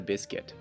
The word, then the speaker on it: biscuit: A cookie is a biscuit. How do you pronounce this word? In American English, it's biscuit. In French, it's biscuit. And finally, in Japanese, it's bischetto.